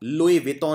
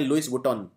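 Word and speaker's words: Louis Vuitton: नाम की कंपनी ने कई लोग इसे प्रोनाउंस करते हैं लुईस टोन लुई टोन नहीं इसको यह फ्रेंच ब्रांड है फ्रांस का ब्रांड है इसको बोलते हैं लुई वितों कपड़ों की ये कपड़ों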